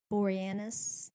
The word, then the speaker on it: Boreanaz: Boreanaz.